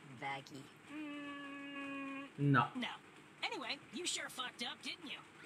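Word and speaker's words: Vaggie: want to know wow actually it's pronounced vaggy no no anyway you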